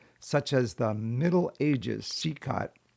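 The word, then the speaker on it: CECOT: as the Middle Ages CCOT. I think it's actually pronounced Cecil where people deported from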